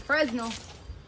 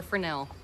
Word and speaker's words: Fresnel: We're in Louisville, Kentucky, so it's Fresnel or Fresnel. Well, we say it like it's spelled. Like Versailles. I can't believe we actually put the L on there. Usually we don't pronounce L's.